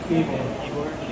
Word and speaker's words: Ybor: Ybor.